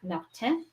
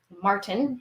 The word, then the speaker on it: Martin: do this is a jean Jac Martin Martin if you want to say it like an American or Canadian um this B does